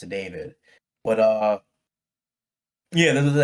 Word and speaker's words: D4VD: I never pronounced it David.